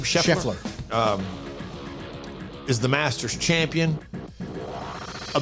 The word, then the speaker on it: Scheffler: Scott, how do you pronounce his last name? Scheffler.